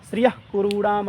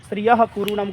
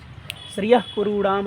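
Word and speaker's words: श्रियः कुरूणाम्: और जिह्वामूलीय का उच्चारण अर्ध विसर्ग की तरह होता है, यानी ऐसे पढ़ना चाहिए, श्रियः कुरूणाम अधिपस्य पालिनी, जो ऐसे श्रियः कुरूणाम गलत है, श्रियः कुरूणाम अधिपस्य पालिनी प्रजासवृत्तिम यमयुं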